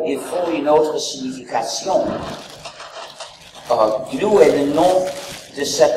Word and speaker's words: GNU: Et il faut le prononcer comme GNU, pas comme new.